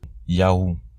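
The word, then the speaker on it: יהו: Ces trois lettres ensemble se prononcent Yahou. Le vav devient un U et se prononce donc ou, Yahou.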